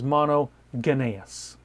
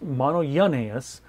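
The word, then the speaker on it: μονογενής: one word it's a compound word and it's mono yenus now if you look at that word and break out break it apart it looks like it says mono Gus it's actually pronounced mono yanus but mono is pretty simple most versions or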